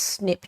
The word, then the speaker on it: SNP: used and thrown around single nucleotide polymorphisms pronounced snip testing I should stress